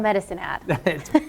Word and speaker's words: Medicine Hat: from Medicine Hat yeah you should say it like that you say because we're on medicine at perfect it's perfect great place to grow